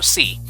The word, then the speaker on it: xi: this is pronounced uh C but so like the letter c but the way you spell it excuse me uh it's x i and yeah I have